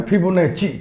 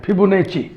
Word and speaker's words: Fibonacci: फिबोनाची sequence, इसको कुछ लोग उच्चारण करते हैं फिबोनाची, चा लगाते हैं, फिबोनाची।